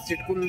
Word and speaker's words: SIIDCUL: Corporation of India तो एस आईआईडी सीयूएल इसको सिटुल बोलते हैं। आप कुछ भी प्रोनाउंस कर सकते हैं।